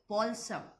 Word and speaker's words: balsam: But he remembered the bottle of the healing balsam. It is B-A-L, but by pronouncing we'll say balsam.